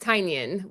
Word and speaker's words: Tynion: And I got to meet James, and I believe it's pronounced Tynion, which is why he has Tiny Onion as his Tiny onion, company. tiny. Tynion, yeah, kind of think like Tyson or Tynion.